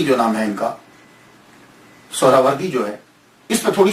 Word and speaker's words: سہروردی: بڑی توجہ دینی ہے۔ ہم لوگ اکثر بول دیتے ہیں سہروردی، سہروردی، یہ اکثر ہم بولتے رہتے ہیں۔ میں غلط نہیں کہتا، لیکن ذہن میں یہ تو ہونا چاہیے نا کہ اصل پروننسیشن، اصل تلفظ کیا ہے۔ اصل میں یہ سہراوردی یا تو نسبتی ہے،